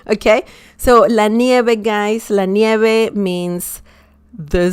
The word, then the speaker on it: nieve: V in Spanish is like B as in bell, okay? La nieve.